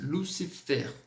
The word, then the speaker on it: Lucifer: E a própria palavrinha que nós colocamos, Lucifer, onde, exceto o L, o C e o FR, nós vamos pronunciar. Então vai ficar aquela regrinha, lembre-se, Lucifer, d'accord?